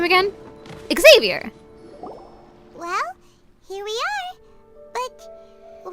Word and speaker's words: Xavier: Xavier? That's how you say his name? Wait a minute. It's not Xavier, it's Xavier.